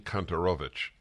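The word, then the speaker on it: Kontorovich: year in Israel Eugene kanterovich and you are twitterable at at e v cantarovich correct correct let me spell that for people KO it's really it's spelled more or less like it's uh pronounced k-o-n-t-o-r un o v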